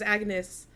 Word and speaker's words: Agnes: The Dutch family says Agnes, but then the Danish family like doesn't pronounce the G kind of, right? They say an Yeah.